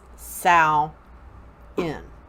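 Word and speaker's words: Samhain: that's s am h AI n but it's pronounced sal in now this is our new year okay this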